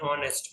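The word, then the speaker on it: honest: एनर एक घंटा एन ऑनेस्ट मैन एन R okay यहां पर य एच नहीं है यह साइलेंट है तीनों में और ऑनेस्ट मैन एंड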